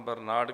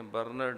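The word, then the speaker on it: Bernard: شاہ، George برنرڈ شاہ، عام برنارڈ کہہ دیتے ہیں، برنرڈ اصل تلفظ، جارج برنرڈ شاہ۔ اس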